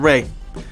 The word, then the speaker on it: Rea: overtake, I believe, Jonathan Rea. Or Rea, I don't know. His name is spelled R-E-A. I'm pretty sure it's Ray. So I'm going to go with Ray for now.